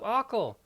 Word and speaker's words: Aql: That's how you pronounce it, the Trials of Akal.